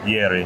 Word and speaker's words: Yeri: How do I pronounce? Yeri. Yeri.